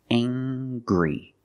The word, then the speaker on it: angry: say he's very angry we use the nasal sound plus the hard G angry he's very angry he